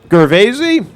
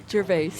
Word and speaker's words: Gervais: This is Gervaisi from, well, I'll tell you what. This car is from West Virginia, but I'll let pronounce her own name. Gervais.